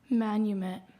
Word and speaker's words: manumit: Manumit.